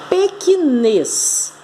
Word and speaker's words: pequenez: que ela é oxítona porque a última sílaba é a mais forte o assento está na